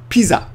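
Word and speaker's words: ピザ: Okay, so first of all, we've got to be careful about the word pizza, because pizza in Japanese is not pizza, it's piza.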